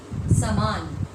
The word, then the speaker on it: सामान: यहाँ पर श में आ की मात्रा है जो कि यहाँ पर नहीं है।